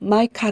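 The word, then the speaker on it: Micah: 같은 신이 어디 있을까 히브리어 성경은 마카 이 아우의 다축 형인 미카 라 부른다 영어성경은 마이카 라고 읽는다 기록자 니가 라는 이름의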